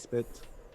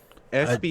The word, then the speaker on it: spitz: right, but it's Japanese spit, right? Yeah, you know. A Yeah. what? Japanese spit. Spit. SPITZ. Japanese. Yeah, Z, not Z. People. That's how you pronounce that shit.